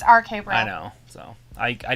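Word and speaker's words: RK-Bro: right okay bro okay sometimes they say bro ko it's rk bro i know so i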